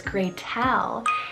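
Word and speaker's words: Gretelle: the name gretel and her name is graytel and she spells it g-r-e-t or you can spell it g-r-e-t-e-l-l-e inspo is hansel and gretel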